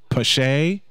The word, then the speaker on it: Pache: Pache.